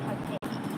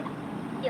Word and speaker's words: Taipei: I live in Taipei. Taipei is the capital, right? Yeah, Taipei. Oh. Please don't say Taipei. Like, why everybody, when they saw the name, they were like, Taipei. I'm like, no, it's Taipei.